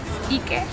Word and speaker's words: iki: Iki, and duş. Turkish. Bir. İki. İki. 3. 3. Alkış. One, bir. Bir. 2. 3. 3. También es bir. No. Bir. Bir. Bir. İki.